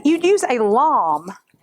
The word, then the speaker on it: lame: So it t you'd use a lom. Now, it's spelled L A M E. It looks like lame, but it's called a actually called a lom.